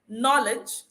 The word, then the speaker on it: knowledge: Whenever you see K before the N, know that the K will be silent.